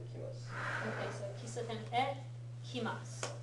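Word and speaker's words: へ: Okay, so kisaten e kimasu, right? Make sure you're pronouncing it e, not he, when it's a particle.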